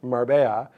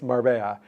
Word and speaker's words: Marbella: They were like, first of all, Razor, it's pronounced Marbella. And you don't need to say Spain. Everybody in Europe knows that it's Marbella.